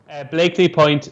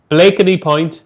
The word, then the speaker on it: Blakeney Point: Blakely Point, 335 Haydock. You've got to learn how to say it properly before we can nap it. Blakeney Point. Blakeney. You say Blakely.